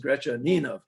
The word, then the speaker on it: Gretchaninov: because Gretchaninov himself wrote in his autobiography, "The way to pronounce my name is Gretchaninov," and so they must have been mispronouncing it back in his lifetime.